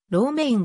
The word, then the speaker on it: Romijn: こともあるが英語での発音は楼名演でローメインが近い父親は家具職人